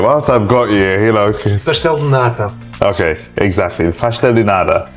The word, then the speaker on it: pastel de nata: How do you pronounce it? Whilst I've got you know. Pastel de nata.